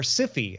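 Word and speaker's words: Syfy: or loved this series the sci-fi channel or sippy as some people pronounce it will change its logo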